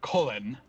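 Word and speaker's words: Cullen: dungeon i forget colon ah yeah c-u-l-l-e-n uh colin ever wins evan yeah evan evan like even uh spelled like even colin everwind um uh i i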